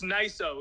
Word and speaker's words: Nico: It's Niso. It's He just uh tweeted yesterday that everybody's been pronouncing it wrong and it's actually Niso.